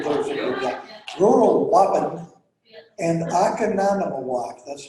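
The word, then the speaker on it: Waupun: I remember tuning in a weather broadcast, and they talked about Wappen. That's Wapan for you those of you that rural Wappen and Akananamawak.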